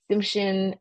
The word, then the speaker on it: Tsimshian: But here in parentheses is the way to pronounce these names. So Tlingit, Tsimshian, Haida, Kwakiutl, Kwakiutl, and Salish, and then the Bella Coola.